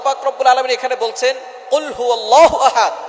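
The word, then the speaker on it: قُلْ هُوَ: রাব্বুল আলামীন এখানে বলছেন কুলহু আল্লাহু আহাদ এখানে কফ দিয়ে পড়ছেন কিন্তু অনেকেই ভুল করে উচ্চারণ সঠিক না হওয়ার কারণে তারা পড়ে কাফ দিয়ে কুলহু আল্লাহ ক শব্দের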